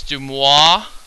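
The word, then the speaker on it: de Moivre: head I believe it's dumois I believe it's how you actually pronounce it um but basically this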